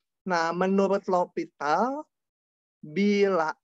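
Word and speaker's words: L'Hôpital: Bacanya tapi aturan L'Hopital.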